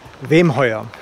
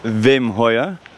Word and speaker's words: Wemheuer: Hoe spreek je achternaam eigenlijk uit? Wim Hoyer. Wim Hoyer.